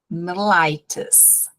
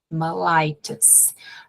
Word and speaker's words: mellitus: Eu falo mellitus. Se vocês assistirem vídeos, por exemplo, Mike do Simple Nursing, vocês vão ouvir também mellitus. Mas não estranhem se vocês ouvirem mellitus, mellitus. Dependendo do local dos Estados Unidos, vai sair assim. Ou seja, acostumem o ouvido, 2 pronúncias.